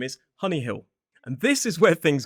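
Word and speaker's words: Hunnyhill: Now, this school is spelled H U N Y H I D L. Honeyill.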